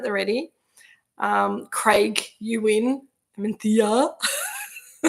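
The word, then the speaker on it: Mencía: Mencia. It's pronounced like that, but it's not spelled like that. Tricky, these Spanish words.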